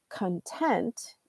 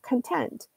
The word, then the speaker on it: content: different word so for example if you say content and put the Highlight on the second syllable content then that means that you're satisfied